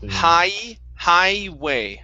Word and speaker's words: highway: Instead of highway, okay, the G does not make a sound. It's highway.